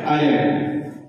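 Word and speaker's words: island: আইল্যান্ড। দ্বীপের ইংরেজি হচ্ছে আইল্যান্ড। বানানটা হবে ইসল্যান্ড। মাথায় যখন বানান লিখবো তখন মনে মনে ভাববো যে ইসল্যান্ড, তবে বানানটা ঠিক হবে।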